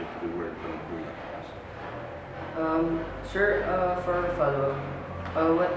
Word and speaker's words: Panagbunga: Yes, it is Panagbunga is Kankanay word. So it has to be pronounced the way that the Kankanay pronounce it. So Panagbunga. And I think that's already clear. So you should pronounce it as Panagbunga, say how the Kankanay is doing.